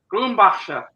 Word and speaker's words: Grumbacher: Yeah, Grumbacher is how you would say it, but I don't know if that's how other people would say it.